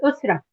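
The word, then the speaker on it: أسرة: Osra. Am I saying it correctly? Yes, it's Usra.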